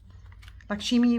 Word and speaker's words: Lakshmi: And it says, you say her name Lakshmi. Oh, so it's Lakshmi.